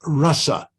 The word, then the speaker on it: rasa: distinction between rasa and rasa. These are 2 different words completely. Rasa, with the first long A, refers to the Rasa Lila, the rasa dance. Rasa, the short A, in the first syllable, is a generic term